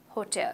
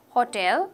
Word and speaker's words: hotel: just singular hotel five-star hotel so don't say hotel okay ho no it's definite no ho oh hotel okay four-star hotel three-star